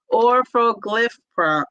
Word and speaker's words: orforglipron: It's called orforglipron.